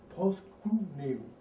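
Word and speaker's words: προσκυνέω: Maintenant, dans la version grecque, c'est, il faut que je prononce bien, proskuneo. Proskuneo.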